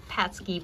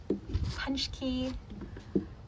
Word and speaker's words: Pączki: It looks like it should say be Pączki, but that's not correct. But Pączki.